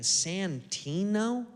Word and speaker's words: Santino: What a cool last name. Santino. Three syllables.